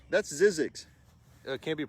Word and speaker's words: Zzyzx: uf glows is this one that can't be pronounced that's Zzyzx can't be pronounced it can be god's is